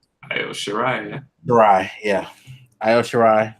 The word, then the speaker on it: Io Shirai: I always forget how to pronounce the name. Io Shirai, yeah.